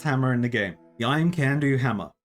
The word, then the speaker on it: Imcando: So I paid Romano for his services and received the best hammer in the game, the Imcandu hammer. Unless you're not into having fun and want to pronounce it Imcando for some reason.